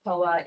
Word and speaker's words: Poa: And then Poa, pronounced Poa in Japanese, but it was taken from Hinduism,